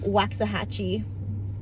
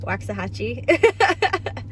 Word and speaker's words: Waxahachie: day I don't think I'm gonna get to Waxahachie I think that's how you pronounce it Waxahachie it's an hour and eight minutes south of